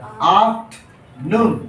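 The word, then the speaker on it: afternoon: ये जो आर है ना, ये साइलेंट होता है। क्यों होता है कि किसी आर के पहले अगर वॉवेल हो, क्या हो, वॉवेल हो, तो उस आर का उच्चारण नहीं होता है।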